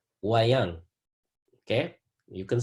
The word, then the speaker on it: wayang: I want you to be able to pronounce it. It's called wayang.